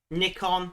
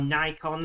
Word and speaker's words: Nikon: Nikon, or Nikon, however you want to pronounce it, have said that